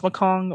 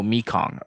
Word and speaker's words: Mekong: the makong dominion i is it pronounced makong or i'm pretty sure oh mekong okay okay then i've been pronouncing it wrong this whole time before we do that